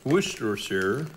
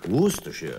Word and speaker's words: Worcestershire: Ja, så uttalas det definitivt inte. Så. Men det är mycket, jag tänkte Worcestershire. Worcestershire. Worcestershire. Worcestershire, ja. Lite squeeze av lemon här, va? Tänk på Leicester, staden Leicester.